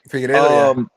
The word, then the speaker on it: Figueiredo: Is that how you pronounce the little prick's name? Figueiredo, yeah.